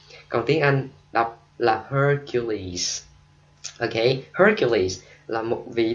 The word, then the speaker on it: Hercules: Hercules, mình đọc là Hercules.